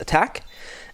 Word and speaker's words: ATK: bit of research ATK first of all actually pronounced attack and second of all this is if I